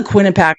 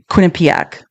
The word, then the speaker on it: Quinnipiac: Wait, did I say the name of the This is a Quinnipac poll. I Quinnipic. There I said it right that time.